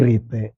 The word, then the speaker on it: റീത്ത്: എടി എച്ച് അല്ല ഈ റീത്ത് ആർ ഐ ടി ഇ ആ നമ്മുടെ മലയാളത്തിൽ ഉച്ചാരണം റീത്ത് എന്ന് തന്നെയാണ് റിത്തൂസ് എന്ന് പറയുന്ന ലത്തിൻ